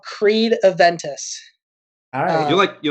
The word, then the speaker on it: Creed: no you silly Billy it's not the band Crete what is it called Creed what Oh Chris Oh Creed is the brand and then it's spelled